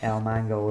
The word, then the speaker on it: Ilmango: Nembom is spelled with a G at the start, so Gnembo-N, and El Mango is Ilmango.